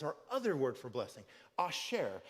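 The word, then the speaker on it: אשרי: The word that's translated into makarios is our other word for blessing, asher, which could also be pronounced, once it's conjugated in what we'll look at today, asrei, but none of that's really that important.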